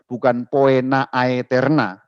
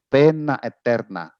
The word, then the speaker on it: poena aeterna: Pena eterna, poena itu dibacanya pena, ya, itu bahasa Latin. O dan E itu satu huruf, itu seperti huruf E. Jadi pena, A dan E juga seperti huruf E. Jadi itu bukan poena aeterna, dibacanya bukan begitu, tapi dibacanya pena eterna.